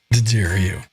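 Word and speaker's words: D'Addario: And he pronounces it properly. The Dario. Didario.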